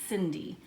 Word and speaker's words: Cindy: And anytime you have the letter C, in most cases followed by an I, it's going to be the soft C sound. S. And remember, her name is Cindy.